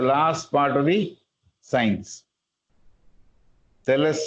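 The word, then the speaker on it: Psellus: So magic, accordingly to Cellus, the spelling of the name is P-S-E-L-L-U-S. P-S-E-L-L-U-S. But P is silent, we are told.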